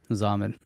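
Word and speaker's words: Xaman: now it's called zumber oh it rhymes with Ramen Ramen Ramen Zaman I don't know I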